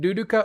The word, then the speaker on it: Luluka: But if you want the correct pronunciation, duduka, but you write it with an L.